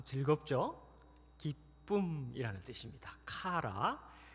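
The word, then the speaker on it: χαρά: 카라 한번 따라 하시겠습니다. 카라. 카라. 네, 뒤에 라자가 붙었네요. 랄랄라 좀 즐겁죠? 기쁨이라는 뜻입니다. 카라.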